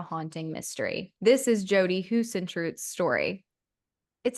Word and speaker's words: Huisentruit: This is Jodi Huisentruit's story. It sounds German to me. Huisentruit, right?